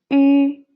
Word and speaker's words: ü: how to pronounce the ü here first of all try to pronounce e so pronounce e and then do not change your tone inside just change the shape of your lips so watch me carefully